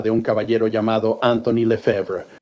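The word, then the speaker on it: Lefebre: en la forma de un caballero llamado Anthony Le Fever. Y para el taquírafo judicial eso se escribe l E f e b r e.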